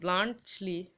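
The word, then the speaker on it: Bluntschli: কিন্তু এখনো বুঝতে পারেনি ব্লান্টলি বানানটা মুখস্ত রাখবে মানে উল্টাপাল্টা হয়ে যায় কেননা টি টা সাইলেন্ট থাকে এখানে ব্লান্টলি ব্লান্ট টর উচ্চারণটা হয় না ব্লান্টলি হয় ঠিক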